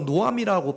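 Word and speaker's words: נֹעַם: 능력이 있다라고 말씀을 하십니다 여기 선한이라는 말의 뜻이 히브리어로 노암이라고 발음이 되어지는데 이게 언제 쓰여지는 선한이라는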